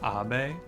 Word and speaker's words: Abe: I might be mispronouncing Abe as Abe here. I'm pretty sure his name is meant to be pronounced Abe, because he is Japanese.